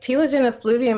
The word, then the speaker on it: telogen effluvium: known as, I think I'm pronouncing it correctly, telogen effluvium. You know, what is that term and what does that have to do with hair loss? Right. So telogen effluvium is actually a very common form of hair